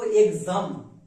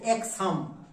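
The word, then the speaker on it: exam: দেখো এর উচ্চারণটা কিন্তু এক্সাম এর উচ্চারণটা আমরা করব এক্সাম নট এক্স হাম কারণ এখানে দেখো এখানে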